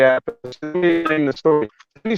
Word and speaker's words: Appice: You know, there's all these different pronunciations. And, you know, Apache, Appice, Appice, blah, blah, blah. So Carmine just said, "Just say Appice." So that's when he changed it to Appice.